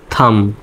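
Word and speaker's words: thumb: এই শব্দে কিন্তু শব্দের শেষে এমবি আছে। তার মানে বির উচ্চারণটা হবে না। সাইলেন্ট হবে। এইচ ইউ এমবি টি এইচ ইউ এমবি থাম। থাম উচ্চারণ হবে।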